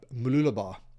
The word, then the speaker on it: Mooloolaba: At the time I was standing in this thought process, I was standing on a beach close by, Mooloolaba, that's how you say it.